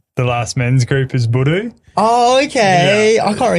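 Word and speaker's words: budoo: So indigenous slang for penis, which you heard at the last men's group, is budu.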